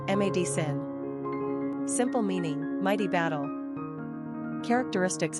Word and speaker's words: Madison: three ranking popularity nine pronunciation mad Sen simple meaning Mighty battle